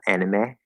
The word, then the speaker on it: anime: And then the E at the end of anime is actually the A diphthong. Um, If we try to do it in maybe a little bit more of a like a Japanese pronunciation, then we might cut it to the third vowel, anime.